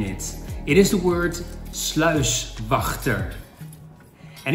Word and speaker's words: sluiswachter: Boat Loock Guard now you have to put some pressure on the G is Ty Dutch is to spit then get the Beautiful word sluiswachter I Can't wait to